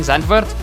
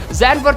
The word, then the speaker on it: Zandvoort: I'm just going to say, like I said in the beginning, Zandvoort, because that's how we pronounce it in Afrikaans.